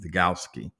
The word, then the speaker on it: Vygotsky: Vygotsky. V-Y-G-O-T-S-K-Y.